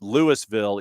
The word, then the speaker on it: Louisville: Lewisville is pronounced Lewisville, even though it looks like Louisville, like the town in Kentucky.